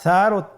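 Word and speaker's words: ث: সা হরফটি বারিক মানে পাতলা করে উচ্চারণ করতে হবে। তাহলে আমরা এখন সায়ের মাখরাজ লক্ষ্য করি। সায়ের মাখরাজ কোন জায়গা থেকে? স্ক্রিনে দেখা যাচ্ছে। সা হরফটির মাখরাজ হলো উচ্চারণের স্থান জিহ্বার আগা সামনের উপরের 2 দাঁতের আগার সঙ্গে লাগিয়ে উচ্চারিত হয়।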